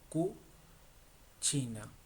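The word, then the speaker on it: cucina: Que significa como ahora Q, por ejemplo, cu china. No hemos visto la C y le pero se pronuncia chi.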